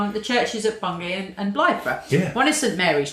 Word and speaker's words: Blythburgh: So in Suffolk, just over the border in Bungay, and also Blythburgh. Is that how you pronounce it? Blythburgh? Yeah. Blythburgh.